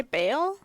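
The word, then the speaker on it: Bael: give a brief rundown Beal that's how you say it right how's it spell b a e l uh I'd say Bale Bale The Bard yeah Bale used to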